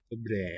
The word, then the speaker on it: dobré: Dobré ráno. Dobre, a little more open A than I was doing.